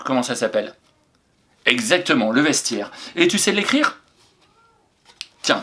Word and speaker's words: vestiaire: Vestiaire maintenant. V-E-S, vesti. Attention au piège là, le son est. Le son est, il s'écrit AI. A-I-R-E. Le vestiaire.